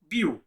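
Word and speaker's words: beau: जैसे कि ब्यू, ई ए यू है ब्यू, इसका मतलब है हैंडसम, बट इसको हम प्रोनाउंस क्या करेंगे? बो, ओ की आवाज है, सो बो।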